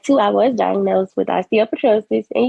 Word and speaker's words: osteopetrosis: I was diagnosed with osteopetrosis and you said it right by the way I know it's kind of hard but no that was right and what is is